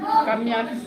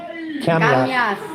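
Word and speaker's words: kamias: I kamyas. Kamya. Kamyas. Kamiat. Spell it.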